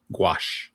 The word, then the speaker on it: gouache: ink, marker, acrylic, and you say, is that gush? Is that how you pronounce that? Gouache. Gouache.